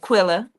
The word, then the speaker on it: Quilla: And I see, is it Sister Quilla? Is that how you say her name? Or is it Keela? My tribe, Quilla. I said it right.